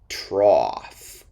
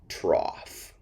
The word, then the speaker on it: trough: with a f sound these o-u-g-h words sound like off at the end ah cough cough trough which is a long